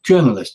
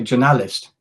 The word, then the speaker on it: journalist: wrote the word journalist well in English its journalist is on the first syllable journalist or the word presenter